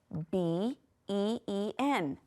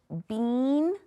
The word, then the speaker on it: been: Did you wanna say bean? - That's right, so the E-E is something we have to just kind of learn by heart, right? We have to remember that that says, eh. It's not gonna follow our usual rules. So been is how we pronounce this word.